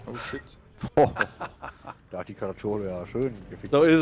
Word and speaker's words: Caracciolo: Carpaccio? Caracciolo. Caracciolo, das spricht man genauso aus.